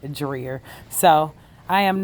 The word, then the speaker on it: Dreher: And I also found out the pronunciation of the island is actually dreer.